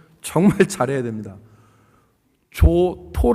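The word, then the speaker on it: Giotto: 발음을 정해 차려야 됩니다 조토 라고 하는 사람이 있는데 이태리 발음은 조또 라고 합니다 그런데 이 사람이 만든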